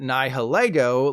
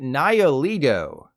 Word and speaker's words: Nihilego: I always called it Nihilego, like Lego my ego. Turns out, I should have been calling it Nihilego.